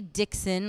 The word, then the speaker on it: Dixon: So it's pronounced more like dicks on. Dicks on. Supposed to be Dixon, like kind of nice and together, but no kid's going